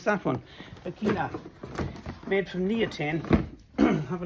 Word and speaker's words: Bekina: Careful how you pronounce that one. Bekina, made from neoprene.